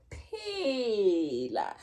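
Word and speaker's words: phela: This is the PH, and when the way that we denote this linguistically, we raise the H a little bit. It goes, we write it up here like an index in mathematics to show that it's an aspirated sound.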